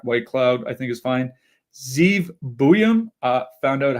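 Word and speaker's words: Zeev Buium: Zeve Buham. Uh, found out how to pronounce that correctly.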